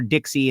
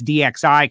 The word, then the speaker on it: DXI: top alcohol funny car i said it wrong all weekend dixie construction is no longer dixie it's dxi construction it's got to say